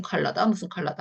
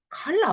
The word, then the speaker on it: color: 색깔 할 때 뭐 무슨 컬러다 하는데요. 네, 이 단어입니다. 그래서 칼라 뭐 상관없어요.